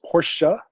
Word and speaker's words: Porsche: than that though because having an e by itself on the end of something is not pronounced in english ever that's right i will